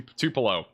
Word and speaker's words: Tupelo: Two two Tupelo. That's what I'm saying. Two Tupelo.